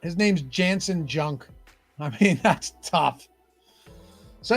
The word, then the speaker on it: Junk: I was like, maybe the J is silent, you know? Maybe it's pronounced with an H. It's not. His name's Jansen Junk.